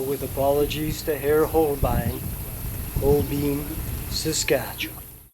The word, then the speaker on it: Holbein: It really doesn't seem to matter what order the letters E and I are combined in an English word. The resulting pronunciation is a long E sound.